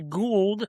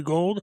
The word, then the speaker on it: Gould: Just make sure you get the official pronunciation out there early. That way, we're not calling you Robbie Gould for 20 or 10 years. And it's actually Robbie Gold.